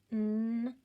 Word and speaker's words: knife: That K is there, and he's not going to say anything, so mark him out. Do your syllable scoop, and let's do our sounds. Knife, knife.